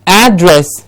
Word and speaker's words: address: one's a verb the address that this letter needs to be sent is the one on the flip for example so address with the stress on ad please remember us take